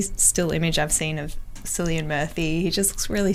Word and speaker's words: Cillian: Every still image I've seen of Cillian Murphy, he just looks really sad. And it's pronounced Killian.